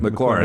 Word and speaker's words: McLaurin: McLaurin.